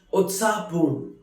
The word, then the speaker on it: उत्साहपूर्ण: Utsapurn, which is pronounced as Utsapurn, which means very excited, very lively.